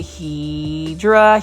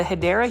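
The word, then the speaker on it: Hedera: plant shopping without finding a HRA helix or the correct way to say it is the hyera helix or English ivy really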